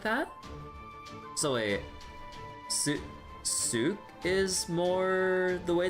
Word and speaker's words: souk: So wait souk is more the way it's pronounced.